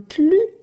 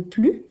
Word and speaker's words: plus: assez je n'en peux plus mais dans la phrase marques à plus de toutous que moi ici je vais prononcer le s est là dans ce cas là c'est plus comme le ciel symbole